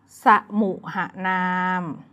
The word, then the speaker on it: สมุหนาม: กัน ที่ สมุหนาม เลย อ่าน ว่า สมุหนาม สมุ เห็น ไหม คะ เป็น คำ ที่ มี อักษร นำ ด้วย นะ คะ สมุห